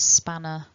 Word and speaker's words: spanner: So if I say the word spanner in isolation, I don't pronounce the R.